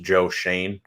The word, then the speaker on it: Joe Schoen: It was built a lot with Brandon Beane coming over from the Carolina Panthers in 2017, who I believe it's pronounced Joe Schoen, correct?